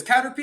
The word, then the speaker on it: Caterpy: online, our name is Caterpy. You can find us on Google, Instagram, Facebook, TikTok. It's spelled Caterpy. Sounds like the Pokemon Caterpie, but with a Y instead of PIE.